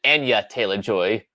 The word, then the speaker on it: Anya Taylor-Joy: Anya Taylor-Joy, or as she pronounces it, Anya Taylor-Joy.